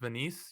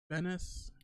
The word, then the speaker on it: Venice: visit it what's mantas like what how's it pronounced Venise you said Venice Venice I always want to pronounce it Venise